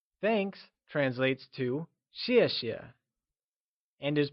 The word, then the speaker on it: 谢谢: In pinyin, X is pronounced like shi. Keeping this in mind, let's look at the pronunciation of 谢谢. Thanks translates to 谢谢 and is pronounced using a falling tone.